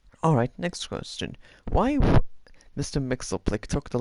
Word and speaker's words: Mxyzptlk: Now, I read online that his name is pronounced Mr. Mixelplick, so that's just how I'm going to pronounce it.